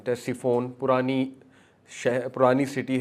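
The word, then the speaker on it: Ctesiphon: But that city is टेस्टीफोन। C silent है। सी टी ई एस आई पी एच ओ एन टेस्टीफोन पुरानी शहर पुरानी city है।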